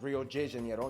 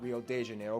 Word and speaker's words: Rio de Janeiro: that's right it's pronounced rio de janeiro not rio de janeiro get it right really damn didn't know that we're not in mexico this is portuguese not spanish this was rio de